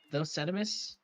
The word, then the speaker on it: Thosetimis: Fizz 64 versus Thosetimis is how he says he pronounces it.